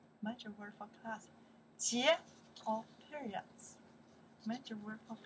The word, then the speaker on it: 节: Chinese, how pronounce that here? Yes, 节.